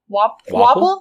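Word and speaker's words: Wapol: Wapple?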